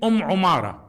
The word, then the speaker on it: Umara: The kunya, her kunya or nickname, Umara, بضم العين وتخفيف الميم, meaning with a dhamma on the ayn, o, and a fatha, no shadda on the mim, Umara, as specified by many scholars like